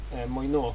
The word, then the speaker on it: Moineau: Moineau, I think, is the pronunciation of that.